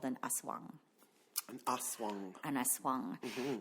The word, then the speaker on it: aswang: An aswang. An aswang. Mm-hmm. It's spelled in various ways.